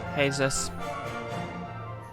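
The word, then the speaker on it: Jesús: a common spanish well a common hispanic name is uh well spelt jesus but pronounced jesus yeah i got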